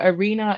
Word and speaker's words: Are.na: So Arena is spelled ARE.NA.